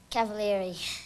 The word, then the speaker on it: Cavaleri: Now say your last name for me so I'll pronounce it right. Cavaleri.